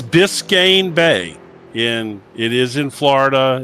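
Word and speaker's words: Biscayne Bay: It's Biscane Bay in It is in Florida. It's Biscane Bay. It's spelled uh Give me that.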